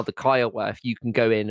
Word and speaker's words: Kiowa: If you check out my Kiowa, am I saying it right?